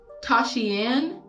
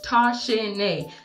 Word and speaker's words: Toshinae: my name properly and it's spelled exactly how it how it sounds tasha nay t-o-s-h tosh n-a-e girl bye it is